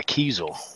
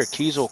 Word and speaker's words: Kiesel: Is Kiesel made by Carvin? Is that right? I didn't say Diesel. I said Kiesel.